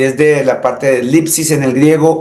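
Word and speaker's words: θλῖψις: encuentra con la palabra lipsis. Tiene una D y S al comienzo que me imagino que no se puede pronunciar. Son dos consonantes. No se puede. Pero está escrito D-S-L-I-P-S-I-S. Lipsis.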